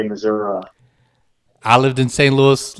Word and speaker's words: Missouri: But yet you denounce the pronunciation of your home state, Missouri, as accepted by most people who live there.